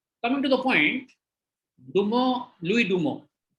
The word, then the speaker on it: Louis Dumont: Coming to the point, Dumo, Louis Dumo. लुइस डुमोंट है spelling, pronunciation है लुई डुमो।